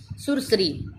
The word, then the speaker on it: सुरसरी: सुरसरी, उसको आप सुरसरी बोलेंगे तो इसका मतलब सुर पे बड़ी, सू पे बड़ी आ गई, अरी पे भी बड़ी आ गई, नहीं, आप इसको सही उच्चारण से बोलेंगे सुरसरी, यानी कि जैसा आप उच्चारण करेंगे आप वैसी ही मात्रा लगाएंगे।